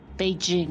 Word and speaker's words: Beijing: many because the because it is not pronounced the way it is in English it is b sing